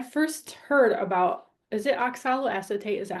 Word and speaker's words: oxaloacetate: think when I first heard about is it oxaloacetate? Is that how you say it? Yeah, oxalloacetate.